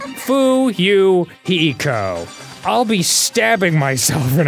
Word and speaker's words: Fuyuhiko: slit on your stomach my name is pronounced foo you hiko i'll be stabbing myself